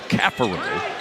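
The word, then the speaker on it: Caffaro: The Speedway stations and PRs for Virginia telling us about Poppy, Francisco's nickname, being updated to Cafaro. And that is the way he prefers it to be pronounced, and we will oblige.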